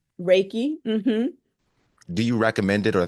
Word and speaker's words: Reiki: but does someone ask for is it called Ricki it's pronounced raiki Reiki do you recommend it or they have to